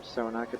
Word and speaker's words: Cyrenaica: Cyrenaica or Cyrenaica, depending on who you ask about what's the correct pronunciation.